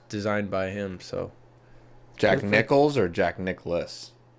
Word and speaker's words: Nicklaus: by him so jack nichols or jack nicklaus how do you say his name the golfers nicholas because there's no like nick ellis it's nicholas nicholson jack nicholson yeah